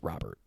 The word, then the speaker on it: Robert: Jim Thome here, but he said it's pronounced Robert.